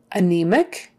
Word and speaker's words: anemic: the first syllable amputate anemic again stress in the middle of the word anemic she's anemic she doesn't